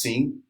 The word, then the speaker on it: sim: is olola Tain um the word yes is pronounced sing in Brazilian Portuguese and no is no